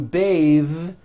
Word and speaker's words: bathe: But when you change it into a verb, to bathe, the vowel changes to an A sound and the TH is voiced. Bathe, like in bathing suit.